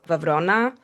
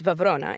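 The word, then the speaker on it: Βραυρώνα: I live very close to Vona, which in English is Browron. It's like a really butchered I don't know how we got there. Uh, but it's Vona in Greek. Browron in English.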